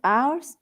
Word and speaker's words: heure: Ok, faites attention à la prononciation, oui, parce que rappelez-vous que U, la E et la U suenan E. Oui, c'est pour ça qu'on dit heure.